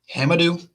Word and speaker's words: Hamidou: to get this right dylan says it's pronounced ham i do hamadoo diallo hema do diallo i i think that'll